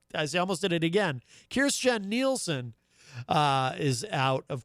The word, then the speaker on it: Kirstjen: her first name uh correctly the other day kirstjen nielsen rather kirsten gillibrand of course is a senator running for president uh christian christian or kirstjen jill uh i almost did it again kirstjen nielsen uh is out of course at uh